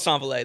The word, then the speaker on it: S'envoler: Yeah, I feel like a lot of people say Saint-Valère, Saint-Valère, Saint-Valver, Saint-Valère. Yeah. Which is all cool. Whatever you... It's called Saint-Valère, though.